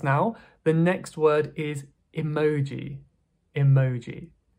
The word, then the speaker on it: emoji: The next word is emoji. Emoji. Now this is taken directly from Japanese. In Japanese it's emoji, emoji.